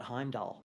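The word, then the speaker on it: Heimdall: you know if you look at the Heim doll there's no r on the end so you just call it Heim doll so I'm pronouncing the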